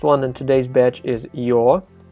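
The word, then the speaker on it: ё: you're you're all right pretty much like this yo so in the word yoga right uh the your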